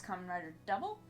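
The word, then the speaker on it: Kamen Rider W: introduce you today it's kamen rider double which is pronounced double but it's spelled w for reasons not really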